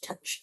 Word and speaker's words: touch: But touch is like You could I feel like you can almost take away that O. And you pronounce it as like T U C H. Touch.